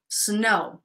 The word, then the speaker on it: snow: go uh that might ask me how to pronounce snow snow snow just be careful it's now you say